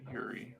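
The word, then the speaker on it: Juri: Yeah, it's Jury with a J. But I think you could pronounce it Yuri.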